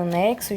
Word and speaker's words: anexo: Então, nessa palavra anexo, gente, o X está representando 2 letras, né? Aliás, o X está representando 2 fonemas, que é o CS, anexo. Então, veja que a gente pronuncia o som do C, anex, e depois o som do S, só.